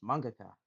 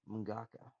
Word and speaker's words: mangaka: I was like, "That's not how you pronounce it. It's Mangaka, not Mongaka, but that was just one of his quirks."